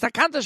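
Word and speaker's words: תכנת: No, it's not Takonas, it's Takanta Shabbos, and right, my mistake.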